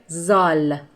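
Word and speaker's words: ذال: start the lesson letter zal the 11th Persian letter is named zal and it is pronounced Z just like the beginning sound in the English word Zoo the form of this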